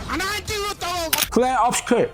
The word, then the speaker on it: Clair Obscur: Klerovski, dibacanya Klerovski.